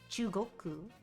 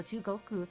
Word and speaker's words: 中国: 本中国 Okay, so Chugoku. Oh yeah, because that kanji is literally pronounced chu.